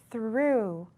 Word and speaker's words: through: to learn is through through now through has a special sound at the beginning is through and it means moving